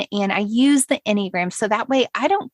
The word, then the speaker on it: enneagram: look when you google enneagram and by the way it's spelled e-n-n-e-a-g-r-a-m which is important to know because when i first heard it annie you'll appreciate this i thought it was annie a gram it should be that